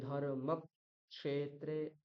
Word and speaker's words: ধর্মক্ষেত্রে: জন্য কি করতে হবে এই ককারে উচ্চারণ করে একটা সময় আমাকে থামতে হবে ধর্ম ক্ষেত্রে এই যে ধর্ম ক্ষেত্রে এই যে মাঝখানে একটা